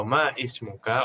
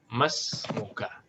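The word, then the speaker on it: ما اسمك: Nah, tidak perlu kita bilang ma ismuka. Kalau ma ismuka, orang kiranya ini hamzah qata. Nah, tapi diwasal saja. Mas muka.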